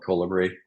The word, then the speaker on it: Kolibri: Yeah, so I don't care which way you pronounce it. I call it Kolibri.